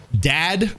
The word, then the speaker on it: Dad: All right, this game is called Dad. It's spelled dead, but they cross out the E, hence the name Dad.